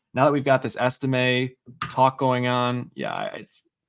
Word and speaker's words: Estime: Estime. Yeah, Estime.